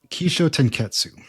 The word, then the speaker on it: Kishotenketsu: in Japan Korea um the pronunciation I just used is the Japanese version that's key Sho ke